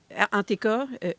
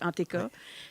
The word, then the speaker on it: Entk: Anteka, NTK, prononcé Anteka, c'est une entreprise à vocation culturelle et identitaire qui vise à faire la promotion de la fierté franco-ontarienne.